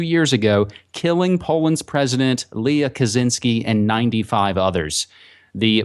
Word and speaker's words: Lech: the twin brother of Lech, as I mispronounced Leah before, as I'll use this opportunity.